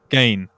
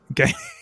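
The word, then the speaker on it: Gane: And he pointed out in the Gan fight, or Gan, you know who I mean. What is wrong with me today, mate? What is going on? Gain.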